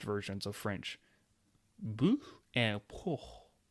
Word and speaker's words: porc: Bœuf and porc. The C is silent on pork.